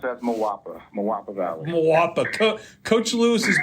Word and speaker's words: Moapa Valley: say it so everybody can hear it I pronounce it as mapa mapa Valley mapa Co coach Lewis has been down my